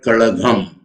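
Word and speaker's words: Kazhagam: So we read in the newspapers, Dravida Munnetra Kazagam, that is how we read that. But the original word is Dravida Munnetra Kalagam. Kalagam. you have to pronounce G.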